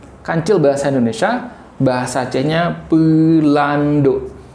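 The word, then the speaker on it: Peulandok: Kancil bahasa Indonesia, bahasa Acehnya Pelando. Jadi Pelando itu ejaannya P E U L A N D O K. Pelando.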